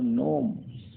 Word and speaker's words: gnome: और नोम, नोम मीन्स बौना, तो GNOME, नोम मीन्स बौना।